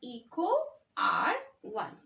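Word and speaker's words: EcoRI: the genus and the species name it is pronounced as Eco r one all right this is pronounced as equal r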